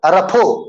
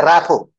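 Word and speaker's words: rapport: Word is very good, it हैज to pronunciation, एक है रफो और एक है रैपो, रफो और रैपो, बोथ में टी साइलेंट है, टी is silent in both cases.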